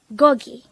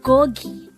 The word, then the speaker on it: 고기: Gogi. Gogi. This is pronounced as a two-syllable word. The first syllable is go, the second syllable is gi.